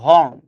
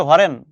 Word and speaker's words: হর্ন: এমনি বাঙালি হর্নরে উচ্চারণ করে হরেন। হ্যাঁ, এটা তোমরা খেয়াল করছো কিনা যায় না, আমি রাস্তাঘাটে চলতে যে এসব খেয়াল করি, এই হরেন দাও না কে বেটা। হরেন বলে তো কোনো শব্দ নাই ভাই, শব্দটা হচ্ছে হর্ন। এবার ভালো কথা, উচ্চারণ করছে